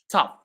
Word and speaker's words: tough: It's actually the c because the c the gh is pronounced f while in the other words it's not pronounced at all.